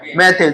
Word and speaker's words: मिथाइल: 3 पे मैथिल, 4 कार्बन को ब्यूट, एल्केन का एन, एल्डिहाइड में एल, तो 3 मैथिल ब्यूटेनेल, 3 मैथिल ब्यूटेनेल। इसी को प्रोनाउंसिएशन में 3 मिथाइल ब्यूटेनेल बोलते हैं, 3 मिथाइल ब्यूटेनेल।